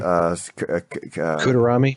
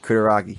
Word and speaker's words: Kutaragi: it's not like, oh, geez, what was that guy's name you could never pronounce? That Japanese guy's name. Kutarami? Kutaragi.